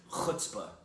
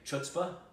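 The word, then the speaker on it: chutzpah: out right there uh by the way it's pronounced kutah that's it's a Yiddish Jewish and they kept saying chutzpa the chutzpa that you got to have chuta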